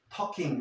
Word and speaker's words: talking: So, they got talking, la L, no la vas a pronunciar, no digas talking, talking, they got talking about their favorite books.